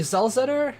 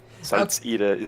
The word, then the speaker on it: Salzeder: I did call you Zalzetter. How do I correctly pronounce your name for the future? That's okay. Salzeder is it normally, but it's German, so just pronounce it English. Oh, Salzeder.